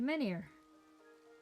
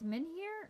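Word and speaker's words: menhir: The Menir. We have to find the Menir. I think it's Menir. Like I think the H is silent.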